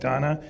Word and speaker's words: Dana: doing fall prevention project Danna it's spelled Dana it's called Project Donna they actually will come